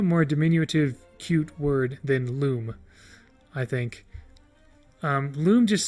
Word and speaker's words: Lum: trivia section of the lum page love is pronounced loom oh okay so a loom then i'd uh because like in the word illumination um however there's no